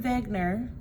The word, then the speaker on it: Wegener: a scientist named Alfred Wegener. It is spelled with a W, but we pronounce it like it has a V because he was a German man.